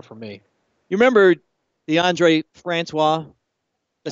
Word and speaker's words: DeAndre Francois: You remember DeAndre Francois?